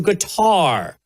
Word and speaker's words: Qatar: The big controversy for a lot of folks online is I guess a bunch of conservatives went to guitar or cutter depending on how you say it.